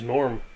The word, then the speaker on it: Gnorm: Sorry, The Adventures of a Gnome Named Gnorm. Gnorm is obviously spelled with a G.